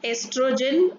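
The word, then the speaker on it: oestrogen: Then estrogen, O is silent.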